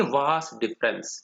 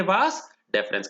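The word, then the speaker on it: vas deferens: अब इसमें डिफरेंस में देखो, पूरी स्पेलिंग में डिफरेंस नहीं बोलेंगे, वास डिफरेंस बोलेंगे इसको। आई पूरी स्पेलिंग में नहीं है, एक एक छोड़ के एक एक बार ई है। देखो DEFERENS, स्पेलिंग पे गड़बड़ नहीं करना है, वास डिफरेंस।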